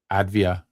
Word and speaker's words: Avdija: So I said, fine, let's let's let's watch Deni Avdija and see what he can do.